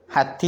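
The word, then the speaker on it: حتى: ഒരു അലിഫ് ഇങ്ങനെ കാണാം അത് ഹത്താ എന്നുള്ളത് അകാരമായിട്ട് ഉച്ചരിക്കണം മുകളിലോട്ട് ഉച്ചരിക്കണം എന്നർത്ഥം അപ്പൊ ഹത്തി എന്ന് ഓതാൻ പാടില്ല ഹത്താ പിന്നെ സുർത്തുമുൽ മക്കാബിർ അവിടെ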